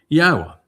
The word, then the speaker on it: Yahowah: YAHOWAH, which is the proper pronunciation of Yod-Heh-Wah-Heh, as directed by his Torah teaching regarding his high existence and our shalom restoration.